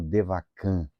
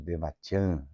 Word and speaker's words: Devachan: O que ocorre com o homem no Devakan, né? O Devachan, aí depende da pronúncia que se preferir.